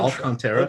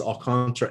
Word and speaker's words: Alcantara: It's not Alcantara, it's Alcantara. And they get a little hint of that first A, or I guess technically it's the third A, but the Tara, it's